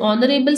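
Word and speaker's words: honorable: Next, Yusuf is एन ऑनरेबल citizen. ऑनरेबल में H silent है, O को देखते हुए इसके साथ N ऐड किया गया है।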